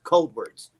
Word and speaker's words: Coldwards: up it kind of it's kind of pronounced like cold words but it's cold words got you but it